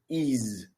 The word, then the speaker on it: ease: speak with great ease this word right here it is not easy it is ease I'm actually going to